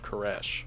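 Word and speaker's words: Koresh: renamed himself to David Kesh David being the reference to King David the one who the Davidians took their name after and Kesh being the Hebrew pronunciation of King Cyrus the Great the king who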